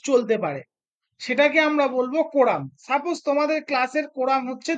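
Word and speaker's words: quorum: কোম মানে কোরাম বানানটা ভুল আছে। ঠিক করে নিও। কোরাম মানে কিউ ইউ ও আর ইউ এম হবে এটা কোরাম মানে নূন্যতম যত যতজন প্রেজেন্ট থাকলে তবে হাউস চলতে পারে।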